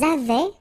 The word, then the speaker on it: avaient: Ils avaient, so remember, even if we've got this A-I-E-N-T, well, we don't pronounce it, or we don't pronounce this E-N-T, so we get avait, okay, phonetically. Ils avaient, okay, and then elles avaient.